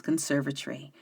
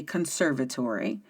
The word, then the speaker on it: conservatory: opened into a glass conservatory overlooking a stunning English garden. Yes, I pronounced that correctly. In America, we say conservatory, but in England, they say conservatory.